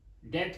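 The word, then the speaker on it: debt: भी लिखा है परंतु ब जो है उसकी कोई साउंड नहीं है व साइलेंट लेटर है साइलेंट लेटर है इसलिए कोई साउंड नहीं देता इसलिए हम इसको कोई इसका सिंबल नहीं लिखते डेट का लिखते हैं शड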